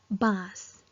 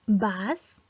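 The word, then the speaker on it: बाँस: So when we pronounce this word, then it pronounced is bass, not bass. We pronounce bass with Chandrabindu, so we have to pronounce bass, which means bamboo.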